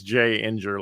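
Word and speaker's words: Jinger: So she's J Inger, like Ginger, in my phone, and has been for a long time.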